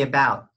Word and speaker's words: about: Pronunciation, could you say about? About. Don't forget your held T sound.